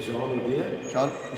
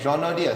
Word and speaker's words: Jean Naude: But this is the Chief Executive Officer of Groot Constantia, and this is Jean Naude, Jean Naude. Jean Naude.